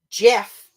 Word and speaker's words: Geoff: my wife is a GIF person. Mm. But I also followed it up with, you don't call the guy GIF, mm-hmm. and it's spelled GEOFF. Mm-hmm. You call him Jeff as if it was JEFF,